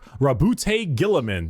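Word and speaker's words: Roboute Guilliman: Primarch, Rabute Gilliman. That's how it's said.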